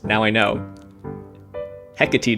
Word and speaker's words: Hecate: pronounced now i know hecate doesn't rhyme with takate and natick is not